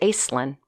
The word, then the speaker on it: Aislynn: l-y-n-n so a-i-s-l-y-n-n and pronounced it acelin and that's where my name came from as I understand it